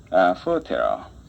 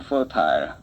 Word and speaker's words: fertile: fertile. 이것은 영국 사람들은 fertile 이라는 발음을 씁니다만은 미국 사람은 주로 fertile.